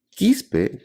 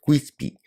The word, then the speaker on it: Quispe: Quispe tiene la facilidad de pronunciación, entonces para los americanos yo soy el doctor Quispy, pero le achuntan, así que es diferente para mí.